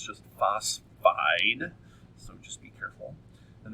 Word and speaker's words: phosphide: oxide Florine fluoride phosphorus a lot of people add an extra syllable there but it's not it's just phosphide so just be careful